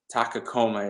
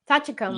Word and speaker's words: Tachikoma: the Shell thing because I think it's a Takakoma is how it is. I'm sure I got it wrong, but I know that you were. Tachikoma.